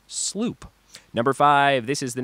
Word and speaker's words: sloop: Dutch word slow up SLO ap but it's pronounced sloop number five this is the name for the